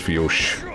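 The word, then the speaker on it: Fiodh: I remember there was, what, the one dungeon in Mabinogi spelled F-I-O-D-H, and apparently it's pronounced Fiosh.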